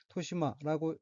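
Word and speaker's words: 年増: 첫째 줄 맨 오른쪽 어휘는 한자가 한국어로 년증이고 각기 해년, 더할 증자로 되어 있고 일본어로는 토시마라고 읽으며 토시마는 젊은 여자의 시기를 조금 지난 여성, 중년이 되기 전의 여성이란 뜻의 명사입니다.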